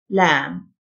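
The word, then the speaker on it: lamb: صغير الخروف لام، البي silent، لام.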